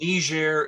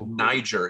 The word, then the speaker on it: Niger: different languages so that's their lingua franka and ner is how we pronounce it some people might pronounce it Niger it's north of Nigeria sometimes people confuse it with Nigeria I've heard